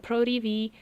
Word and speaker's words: PRO TV: And Pro TV, Pro TV, that's how you say it.